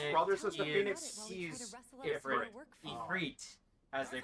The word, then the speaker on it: Ifrit: Ifrit, as they pronounce it in game. I mean, that is the correct. To be fair, that is the correct pronunciation of the original source either way.